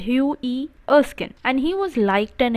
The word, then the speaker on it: Hughie Erskine: name is hughie erskine you pronounce it as hugh e erskin and he was liked